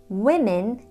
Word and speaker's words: women: Women is plural and the vowel sounds are I and I.